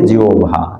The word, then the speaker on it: জিহ্বা: মধ্যে সবচাইতে খারাপ হচ্ছে জিহ্বা অনেকে কি বলে জিহ্বা আসল উচ্চারণ কি জিওভা জিও জিওভা তাই জিওভার কারণে আমরা